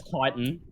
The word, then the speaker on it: chitin: That it's chitin.